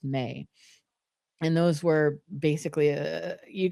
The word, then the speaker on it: me: It was used for votive objects and then amulets, particularly amulets for the May protocols, which is spelled M-E but pronounced May.